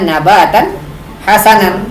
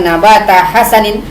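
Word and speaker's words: نباتا حسنا: ada peluangnya idofah tapi Alquran membacanya nabatan hasanan bukan nabata hasanin berarti ini bukan tarkib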